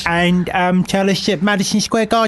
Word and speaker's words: Madison Square Garden: He's taken a New York minute to sit down and um tell us that Madison Square Garden Gardens shouldn't be pronounced with an extra S on the end of the gardens and it seems to be perhaps no garden.